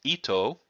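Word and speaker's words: 糸: By the way, this particular section here on himo, if that was used as a kanji by itself, that would be pronounced ito, and that is the character which means thread.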